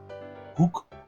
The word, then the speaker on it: hoek: I think this is pronounced in every language differently, but in Dutch this is pronounced as U. So it is pronounced as hook.